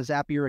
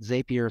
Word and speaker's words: Zapier: I'd also, just side note, some of you may pronounce it Zapier, some of like rapier, like a sword, because they're called Zaps. I figured it's called Zapier, but I'm just going to say Zapier.